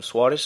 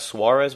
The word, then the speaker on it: Soares: of tournament Everton um Soares I think his name is not Suarez well you know the Portuguese pronunciation ever since Wallisch or